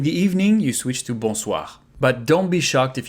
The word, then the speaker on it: bonsoir: Bonsoir, here, O and I. It becomes wa, bonsoir, and we pronounce everything.